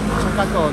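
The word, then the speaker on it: 釈迦頭: Shakatou. Nó được viết là "đầu của Đức Phật" và được phát âm là "Shaka-tou" Vì nó trông giống đầu của Đức Phật.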